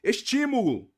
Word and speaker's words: estímulo: da sílaba tônica ó estímulo não é a última não é a penúltima é a anti penúltima Então olha só que